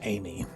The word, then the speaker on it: Aime: Laura Ann Amie. We believe that her last name is pronounced Amie, and it comes from a French word that means beloved or loved one.